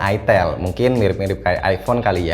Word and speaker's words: itel: denger namanya tapi gini tulisannya Emang itel dibacanya itel mungkin mirip-mirip kaya iPhone